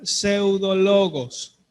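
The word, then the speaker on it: ψευδολόγος: El adjetivo que se utiliza en el idioma original para referirse a estas personas es una palabra que se pronuncia pseudologos.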